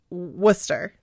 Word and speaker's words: Worcester: it looks like worst worst Chester but it's Worcester okay well let's try this again or Worcester